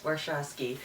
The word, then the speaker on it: Warshawski: Warshawski, yes, Warshawski. Sorry I had to look at my notes to see how to pronounce that.